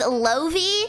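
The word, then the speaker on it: Laufey: I thought that he was talking about, I think her name's pronounced Lovi, something like that. It's spelled like Laufei, like the singer, like the jazz singer.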